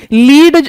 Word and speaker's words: lead: Okay, लीड ये जो है हमारा, इसकी प्रोनाउंसिएशन लेड भी है, और पी बी ये इसका सिंबल है, आपने केमिस्ट्री में पढ़ा होगा।